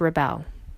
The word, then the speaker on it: REbeL: As you know by now, our name is pronounced REbeL, like the verb to rebel.